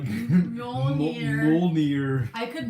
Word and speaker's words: Mjolnir: Mjolnir. I could not pronounce that until the movie.